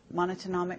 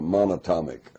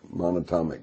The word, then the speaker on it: monatomic: uh you know the the the monochromic gold monotonic how do you say it the um it's the single atom gold uh monatomic monatomic gold orbitally rearranged monatomic gold single atom U